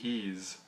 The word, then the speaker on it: Ys: how you pronounce it Ys I think it's pronounced ease if if I'm not mistaken I'm not familiar with